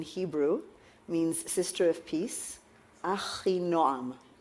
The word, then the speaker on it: Achinoam: My name is Achinoam. Achinoam in Hebrew means sister of peace. Achinoam, right?